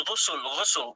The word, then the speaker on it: ghusl: It's ghusl. Ghusl. Is it the same as ablution? Let me spell it to you.